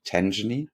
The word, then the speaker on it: Tangany: Is that how you pronounce it? Tangany?